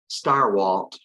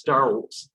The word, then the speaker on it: Stirewalt: Chris Stirewalt.